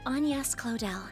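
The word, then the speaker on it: Agnès Claudel: you a little about myself my name is anas clell oh that's how you pronounce that name but yeah so this is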